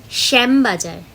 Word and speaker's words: শ্যামবাজার: শ্যামবাজার, শ্যামবাজার, এই যে প্রথমের স্বরটা শ্যাম, এটা কিন্তু তালিবস্য এর সাথে উচ্চারণটা হবে, মানে জীবের সাথে তালু স্পর্শ করবে।